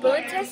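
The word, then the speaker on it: Boötes: How do you pronounce that again? Bootis. Bootis, I think.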